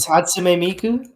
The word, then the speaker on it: Hatsune Miku: Of like the man marrying like Hatsune Miku. That's how you say it? Hatsume Miku.